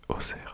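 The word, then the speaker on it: Auxerre: e e Doer e oui on dit oser et pas oxer parce que j'en ai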